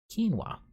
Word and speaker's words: quinoa: If you were wondering how to pronounce that word, quinoa.